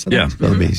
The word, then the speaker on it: Sotheby's: Sotheby's, yeah.